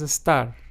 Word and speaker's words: estar: to be in Spanish it's just pronounced as estar you don't even have to roll your RS there roll your tongue but then we have